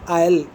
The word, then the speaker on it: aisle: Seat को बोलते हैं आयल, AISLE, S साइलेंट है।